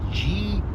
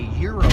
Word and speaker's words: gyro: And we were discussing the names, and it's spelled G-Y-R-O. So I said, is that called a gyro or a gyro? And they corrected me and said it's called a euro.